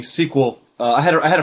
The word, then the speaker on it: SQL: some people pronounce it SQL that yeah some people will say the whole acronym but generally squel uh I had I